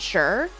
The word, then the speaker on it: xer: And in my head, the X was a Z sound. And maybe it is in some places a Z sound. But they pronounce it as like a shay and sure, and shay, sure, shares.